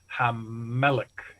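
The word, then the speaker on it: המלך: So when you say the king in Hebrew, you say Hamelech with 2 M's because you're compensating for the loss of the L.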